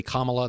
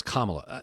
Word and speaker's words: Kamala: people say they say Kamala they say Kamala and I I understand it's kamla it's it's an honest